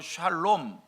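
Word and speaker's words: שלום: 이 화평 이란 말을 히브리 말로 샬롬 이렇게 발음 하구요 헬라 말로 는요 에이레네 이렇게 발음을 합니다 그리고 이 샬롬 이이의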